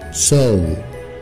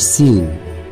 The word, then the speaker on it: sew: نمبر 6 بخيط ملابس سو، سو مش سيو، سو سو برضو امريكان وبريتش سو.